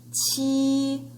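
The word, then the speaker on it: 七: Pronunciation is qi, sounds like T, sounds like cheese, and looks like that letter T, right?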